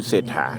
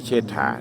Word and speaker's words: เศรษฐา: เศรษฐา อธิราช นะ ครับ ออก เสียง เป็น เศรษฐา นะ ครับ ไม่ ใช่ ชัย เชษฐา นะ ครับ ก็ นี่ แหละ